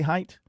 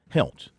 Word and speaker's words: Helt: Did I say Height? Helt. Will Helt. Yes, Will Helt.